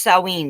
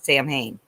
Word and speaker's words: Samhain: It's pronounced Samhain. The Okay. American way to say it is Samhain.